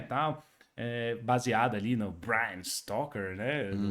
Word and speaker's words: Bram: Baseada ali no Bram Stoker, né? É Brian? Bram.